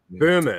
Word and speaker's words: Böhme: So German idealism has a weird Rosicrucian link, and Hegel read frickin' Jakob Bohm and all of that kind of stuff, or Jakob, or however you pronounce it. But Böhme.